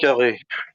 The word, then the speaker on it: Poincaré: How would you pronounce that in Henri French? Poincaré.